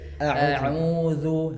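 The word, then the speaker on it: أعوذ: Misalnya tadi a'udzu. Jadi huruf hamzah itu keluarnya murni dari tenggorokan bagian bawah.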